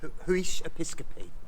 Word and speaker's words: Huish Episcopi: How is it pronounced? Huish Episcopi.